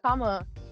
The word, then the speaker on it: Kama: doing I'm doing good how's it my name's Kama uh everyone calls me Kama yeah I've been